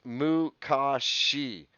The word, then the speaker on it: Makashi: two form two is is makashi uh that is pronounced mukashi uh alex who are